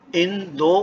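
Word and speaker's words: インド: ऐसे ही इंडिया को इंदो कहा जाता है।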